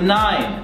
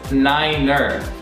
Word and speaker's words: niner: Same goes for number nine. Nine sounds like the German word nein, which means no, and therefore is pronounced number nine as niner.